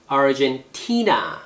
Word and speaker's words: Argentina: Argentina, Gen이에요. 입술 모양 잘 보세요. T의 액센트가 있죠. Argentina. 그리고 아까 Vancouver도 액센트 주의하라 그랬는데 캐나다도 액센트가 이름절이에요.